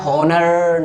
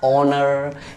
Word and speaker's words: honour: एक देख लीजिए एग्जांपल, HONOUR पढ़ते क्या है, हॉनर, नॉट हॉनर नहीं, इसको पढ़ना है ऑनर, क्योंकि रूल क्या बोलता है, इंग्लिश वर्ड्स में ओ से पहले एच आने पर एच हो जाता है साइलेंट, दैट्स व्हाई आपको एच को प्रोनाउंसिएशन नहीं करना है एच का, तो आपको आप पढ़ेंगे एच को साइलेंट कर दीजिए और पढ़िए ऑनर, क्या हो जाएगा ऑनर, ऑनर, right, are you getting my points, right.